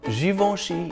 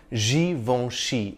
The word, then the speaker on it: Givenchy: the name is pronounced the N is not really articulated the vowel sound before it is nasalized warm jivoshi achieved Fame